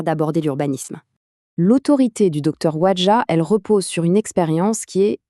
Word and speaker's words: Ouadja: Et bien, il s'agit du Docteur Alain Kosik Wadjah, prononcez Wadjah.